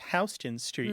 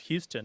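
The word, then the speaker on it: Houston Street: New York City is hon Street and as a Tex and you probably appreciate that many people from the rest of the country assume that it's pronounced Houston as in Sam Houston U but it isn't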